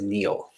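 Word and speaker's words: Néel: i d hyphen Neel but it's pronounced Neil um so uh in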